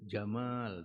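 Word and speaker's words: جمال: inallah jamilun Jamal ya Jamal dibacanya panjang ya Jamal ada alifnya ya jangan antumya makanya harus panjang dibacnya itu Innallaha jamilun Sesungguhnya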